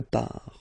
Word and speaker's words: part: Don't pronounce the final T. Quelque part.